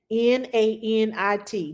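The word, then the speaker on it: Nanit: monitor oh the mon the monitor is uh n-a-n-i-t nan it that's what the monitor is called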